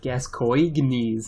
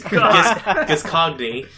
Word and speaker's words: Gascoigne: I didn't realize that the pronunciation of Gascoigne's name was so... Fuck. Is Gascogne. Oh. No, Gascoigne. Gascoigne.